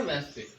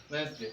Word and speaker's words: Wednesday: डे कौन सा है वेंसडे, WEDNESDAY, वेंसडे। सबको स्पेलिंग याद हो जानी चाहिए।